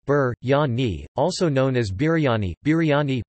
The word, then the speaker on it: biryani: biryani pronounced Burt Yanni also known as biryani